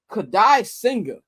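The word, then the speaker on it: Kodai Senga: And the Mets going to be throwing Kadai Singer. That's how you pronounce his name.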